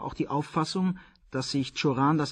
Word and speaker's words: Cioran: Der Name kann rumänisch, französisch oder auch deutsch ausgesprochen werden. Cioran hat alle drei Formen akzeptiert.